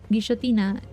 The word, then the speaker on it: guillotina: In Spanish, at least where I am, double L is pronounced sh. Like a SH type of sound. So it would be guillotina.